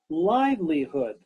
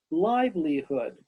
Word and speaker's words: livelihood: did not pronounce correctly first is livelihood three syllables can you give me three fingers livelihood livelihood watch me watch my lips and teeth and tongue livelihood livelihood very good say it